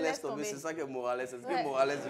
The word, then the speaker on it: Morales: Déjà, j'ai bien prononcé, c'est Morales.